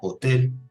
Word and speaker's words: hotel: En italiano la letra H no tiene pronunciación, es muda, al igual que en el español.